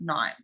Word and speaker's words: knife: twig with a sharp knife with the wing of knives look at this picture this is the ninth okay also here the letter k is silent live no it's wrong